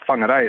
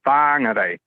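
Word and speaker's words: Whangārei: Now it's not whangarei, it's whangarei, and that changes every 5 years, it seems.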